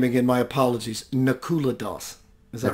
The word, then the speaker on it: Nakula Das: let's get to that source I'm glad you pronounced your name again my apologies Nakula Dawson is that right that's right you did tell